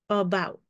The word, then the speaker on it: about: The A at the beginning is making the schwa sound, about.